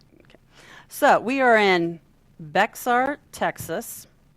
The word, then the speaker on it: Bexar: so we are in Bexar Texas it's be the X isn't pronounced yeah see well see